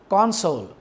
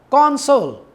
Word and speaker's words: console: One is console. If the stress is on the first syllable, then it will be a noun. If the stress is on the second syllable, it will be a verb.